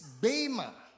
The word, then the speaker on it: bema: The E that was used was not an epsilon, it's an eta.